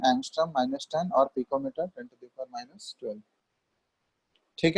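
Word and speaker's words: ångström: इसका प्रोनाउंसिएशन होता है, ए के ऊपर ऐसा छोटा सा सर्किल होगा, इसको बोलते हैं हम लोग एंगस्ट्रम।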